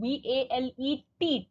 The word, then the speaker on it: valet: V-A-L-E-T. T is missing over there, children. Please notice it should be V-A-L-E-T. T is silent.